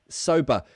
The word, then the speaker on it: sober: do you pronounce sober sober so the ER remember in British English er endings to words is the schwa sound sober it's a very